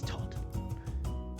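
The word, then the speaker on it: Todph: And the last one, and a Dragonborn cleric perks up and just goes, "It's Todd Whitefoot. The PH is silent."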